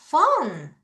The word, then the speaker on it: phone: Pick up the phone. 자, PH가 F 발음 나는 거예요.